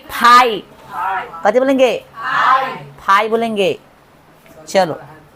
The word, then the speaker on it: phi: पाई नहीं, फाई।